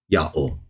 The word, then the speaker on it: Yahweh: pronounced exactly as we see they were likely pronouncing the divine name under Moses as they went into the promised land under Joshua, Yahweh.